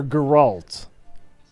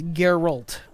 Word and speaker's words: Geralt: correct is it Gerald or Galt it's Geralt Geralt and what am I